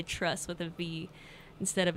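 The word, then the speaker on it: TRVSS: mara new modern and I believe it's pronounced trust but it's TR VSS that is one of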